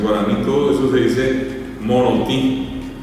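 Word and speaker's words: morotĩ: En guaraní todo eso se dice monotí. ¿Y qué tiene monoti? Una nasalidad en la I. Eh, lleva la tilde nasal en la I final. Lo único que lleva es eso.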